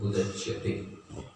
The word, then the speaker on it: उदच्यते: So clear pronunciation होना चाहिए। The word is उदच्यते, तो वो थोड़ा क्लियर प्रोनाउंसिएशन नहीं है।